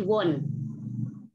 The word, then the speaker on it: wohne: Kurang E-nya tadi saya dengar. Jadi Arif itu bacanya ich wohne. Oke, ich wohne jetzt in Jakarta. Wohne, kalau wohne itu adalah baru akarnya. Untuk ich, akar kata kerja ditambah ich wohne, dan E-nya ini harus kedengaran. Harus kedengaran dibacanya.